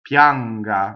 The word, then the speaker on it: pianga: So I is E, right? It's always E, even in this case, but it goes by so fast, it's a semi-vowel. Pianga, right? So here's the other tip. If we're English speakers, we say, oh yeah, that's a Y, right? So pianga. So we do a Y down here, like yoke, yen, right? Yes. But in Italian it says yes from the E position.